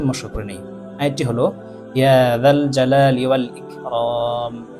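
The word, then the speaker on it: يا ذا الجلال والإكرام: এই আয়াতের মধ্যে প্রথমে জাল আছে, তারপরে জিম আছে। জালকে জালই উচ্চারণ করতে হবে এবং জিমকে জিমই উচ্চারণ করতে হবে। এবং জালের জায়গায় যদি জিম উচ্চারণ করা হয় বা জিমের জায়গায় যদি জাল উচ্চারণ করা হয় তাহলে অর্থ পরিবর্তন হয়ে যাবে।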